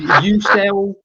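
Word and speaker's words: Yucel: How do you pronounce that? How you sell?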